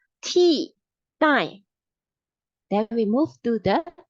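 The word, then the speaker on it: 替代: This is called T, die. T, die. We pronounce like the T-shirt T plus die. T, die.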